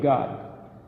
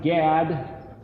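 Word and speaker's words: גד: or the kingdom of God as we mentioned before in Hebrew the word spelled gimmel dalit gimmel dalit is pronounced Gad or God it happens to be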